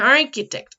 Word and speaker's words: architect: Remember that this both or this together sounds like a k, right?